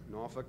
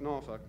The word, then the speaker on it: Norfolk: Norfolk, Norfolk. That's the cheer. Okay. That'll help you remember how to pronounce it next time you're somewhere flying in our region.